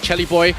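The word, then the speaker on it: Celiboy: But right now, we're going to look at Chelly Boy. We got his name wrong until yesterday, so now we're going to call him by the right way, Chelly Boy.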